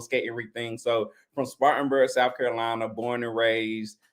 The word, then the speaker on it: Spartanburg: Spartanburg, South Carolina?